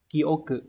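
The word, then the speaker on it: 記憶: Như vậy thì chữ ký và chữ ức sẽ đọc là kyoku.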